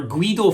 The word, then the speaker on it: Guido: whereby Guy Fawkes, or Guido Fawkes, as he went by, that was the Spanish pronunciation of his name that he would use, Guido Fawkes.